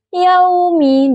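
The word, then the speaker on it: يَوْمِ: Kata yaumi huruf ya makhrajnya itu di tengah lidah dan langit-langit mulut. Huruf wau yang makhrajnya itu di bibir yang menutup rapat. Kesalahan yang sering terjadi pengucapan wau yang tidak rapat sehingga terdengar seperti yaumi. Contoh baca benar yaumi dengan wau yang jelas.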